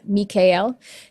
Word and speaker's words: Michael: to vibrate Michael's name, it's best to say it with the 3 syllables, Mikael. Mikael. I'm not doing the whole thing again. So Mikael, or Michael if you want, but Mikael seems to make a little more sense.